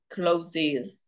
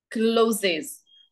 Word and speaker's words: clothes: Okay, so you pronounce this as clothes. Close. Yes, Oh. that's right. Clothes. So close right or closes right? Close. Clothes. Clothes. Okay. Yeah, Oh, that's yeah. correct. Yeah, clothes.